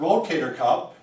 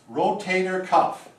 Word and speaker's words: rotator cuff: It is not Rotator Cup. Again, cup. No, Okay. no cups. We're getting closer though. It is, ta-da, Rotator Cuff. There. So now we've defined the proper spelling and pronunciation.